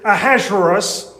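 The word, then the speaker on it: Ahasuerus: In the Bible, uh his name is Ahazerus. Uh that is the pronunciation of his Hebrew name. That's the Hebrew version of his Persian name, which I promise you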